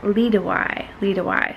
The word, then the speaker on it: Liedewij: Haha, in English, you sort of pronounce it like Liedewij.